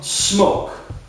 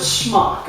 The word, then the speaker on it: SMOK: Furious before tank from smoke or is it smuck I've heard it both ways I prefer to pronounce it smoke I could be wrong